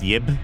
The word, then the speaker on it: Ib: Ib. Or Yib, right? It's pronounced Yib.